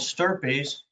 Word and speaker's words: stirpes: per capita designation yes it's called sturpees i know it rhymes with slurpees um now for therapies